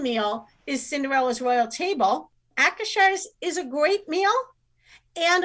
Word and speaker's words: Akershus: I have been taught that it is Akershus. It is That's a how I would say Norwegian it. restaurant. That's how I would say it. Akershus.